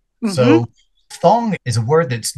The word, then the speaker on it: phthong: Yeah, well, one I think I've used earlier, which was thong, which is a little bit tricky to say, but it's spelled P-H-T-H-O-N-G. Mm-hmm. So thong is a word that's not often used alone.